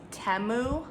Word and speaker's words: Temu: is pretty awesome so I actually think that the correct pronunciation is temu that's what I've been hearing around these parts but doesn't that just